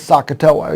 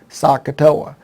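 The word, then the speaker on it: SOHCAHTOA: to remember and it's one of them is sakatowa you may have heard of that one and it's the and it's spelled s-o-h-c-a-h-t-o-a sakatoa now the problem is the spelling of it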